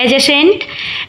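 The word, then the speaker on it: adjacent: हमारा जो next word है वो है एजेसेंट। एजेसेंट मींस होता है देखिए डी साइलेंट रहता है।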